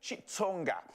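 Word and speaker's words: Xitsonga: This starts with an X, so it always confuses me in our country because sometimes you pronounce it with a chi or sometimes it's a click. With this one, apparently it's Chitsonga.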